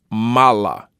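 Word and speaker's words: מלא: with the word that's spelled in Hebrew as MIM lamid Al and this is often pronounced Mala and it means fullness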